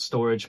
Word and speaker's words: Storj: Some people call it storage, but it's spelled like STORJ.